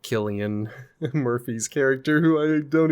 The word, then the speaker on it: Cillian: I say Killian Murphy is how you pronounce it, but I Okay, that sounds more correct. It's just spelled with a C and so I'm always like Silian.